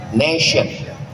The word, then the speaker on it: nation: Cara bacanya nation itu ada tulisan Institute Islam International. Tulisan Tion itu membacanya mesti pakai huruf syin nation.